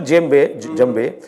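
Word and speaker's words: djembe: a gym bed so the actual gym Bay has three syllables one is called the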